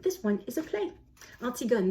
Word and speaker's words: Antigone: one is a play artsy gun that's Antigone pronounced in English um and I want